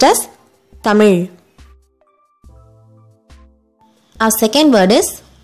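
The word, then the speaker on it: தமிழ்: That is, you should bend your tongue back.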